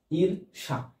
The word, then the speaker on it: ঈর্ষা: আমরা যখন এটা লিখবো তাহলে এর যদি উচ্চারণ লিখতে যাই তখন কিন্তু আমরা এখানে দীর্ঘই দিব না, এখানে রস্বই দিব। রস্বই দিব। আমরা এখানে র দিব, নিচে অবশ্যই হর্ষ চিহ্ন দেব। ইর, ইর মানে ওখানে ব্যঞ্জন থেমে যাচ্ছে, এই জন্য এটা ব্যঞ্জন, হর্ষ দেব ইর। আর এখানে কি দিব? অবশ্যই তালব্য স দিতে হবে, ঈর্ষা। এটা হচ্ছে এই ঈর্ষা শব্দের উচ্চারণ। ঈর্ষা শব্দের উচ্চারণ হচ্ছে এরকম।